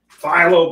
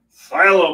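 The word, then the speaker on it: phthalo: let me find it phyllo blue I think that's how you pronounce it Silo blue unpronounceable blue as I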